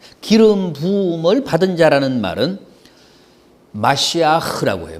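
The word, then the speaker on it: מָשִׁיחַ: 기름 부음이란 뜻이야 기름 부음을 받은 자라는 말은 마시아 그라고 해요 마시흐 마시아 그가 이제 우리 우리 발음으로는 뭐예요 메시아 아아 메시아 우리는 메시아라고 이제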